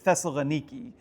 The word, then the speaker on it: Thessaloniki: So um I was told very sternly that it is Thessalaniki uh there in Greece.